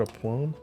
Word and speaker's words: aplomb: There's got a B at the end. You pronounce the B? Kind of fun to do so.